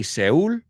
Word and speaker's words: Seoul: Y sabes, you say Seoul, if I'm not mistaken, pues nosotros se escribe S-E-O-U-L, sin embargo se dice igual que alma.